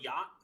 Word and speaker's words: yacht: You ever seen the word yacht? Yeah, of course. A yacht, and it's like it's got the ch, and you don't even pronounce it. It's Mhm. fucking silent. You pronounce like 2 of those letters, maybe.